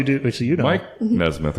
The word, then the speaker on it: Nesmith: It's Nesmith. Nesmith. like the monkey, Nesmith.